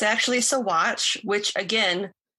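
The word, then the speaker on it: Saguache: of the town and it is actually pronounced as sawatch not sagouche or segoche like i was pronouncing it so it's so watch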